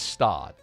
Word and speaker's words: Stade: It's Stad. Like you were totally wrong. Whatever you like you said like Stade or something.